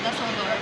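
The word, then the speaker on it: Düsseldorf: We are in Dusseldorf. Is that how you say it? Yeah. Dusseldorf.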